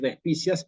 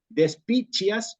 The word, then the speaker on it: despicias: de especias tenemos que ir contra esa inclinación natural a decir despicias y vamos a decir despiches o de espicheas en el caso de latinoamérica de espicheas sí Ok y en la